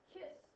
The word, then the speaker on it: cis: The expression cosine theta plus I sine theta is often shortened to CIS theta, pronounced kiss theta.